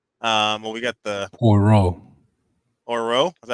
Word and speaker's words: Poirot: Well, we got the Poirot. Is that how you say it? Mm-hmm. Poirot, yeah.